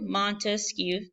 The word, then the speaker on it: Montesquieu: in the interactive so Montesquieu Montesquieu three syllables three branches he believed